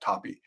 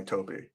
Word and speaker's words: Toppi: I believe it's pronounced Toppi, not Toppi.